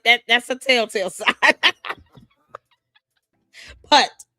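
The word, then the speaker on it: Puth: Putt pronounced putt.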